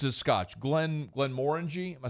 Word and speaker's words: Glenmorangie: I always mispronounce it. It's a Scotch. Glenmorangie. Am I saying it right? Yeah. All right, Glenmorangie.